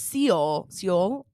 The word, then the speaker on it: Seoul: No, but it's Seoul, South Korea. Seoul. Well, it's spelled Seoul. S-E. Seoul. Okay, but it's spelled S-E. It's true. You know, like it looks like you would say Seoul.